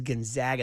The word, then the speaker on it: Gonzaga: So, it is Gonzaga. That's why they call them the Zags to remind you how it is.